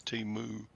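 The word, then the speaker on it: Temu: So I guess it's Timu, as in a cow moos.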